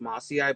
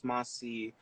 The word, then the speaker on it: mossiae: earlier, like this one, some people say that the species Cattleya mossii is pronounced mossii, but others say that it's mossiae. So it just kind of varies from person to person. But from what I've heard, the correct term is mossiae.